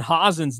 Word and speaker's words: Hen: I've been saying Brendon hen's name wrong the entire time I thought it would be Howen it's hen I found that out